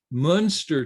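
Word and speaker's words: Muenster: and so it's U that's pronounced monster cheese so unless of course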